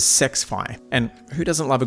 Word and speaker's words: SXFI: The other surround sound setting is SXFI Battle Mode, which I believe is pronounced as Sexfi, and who doesn't love a good sex battle?